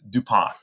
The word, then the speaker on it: DuPont: So my whole family says DuPont, right? Everybody was born here for generations. So we say DuPont.